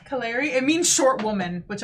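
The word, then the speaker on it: Kalere: names are beautiful um it's like collect k-a-l-e-r-e Canary it means short woman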